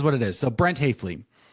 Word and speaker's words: Hafele: Hayflie. So yeah, it's it's it's unfortunate. Hayflie is pronounced wrong in both German and English.